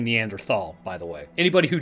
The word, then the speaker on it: Neanderthal: is a, I guess, debate about is it Neanderthal or Neanderthal. The Germans pronounce T-H-A-L, at least from what I've come to understand, as a T sound, not a th sound. So it actually is Neanderthal, but nobody's gonna fault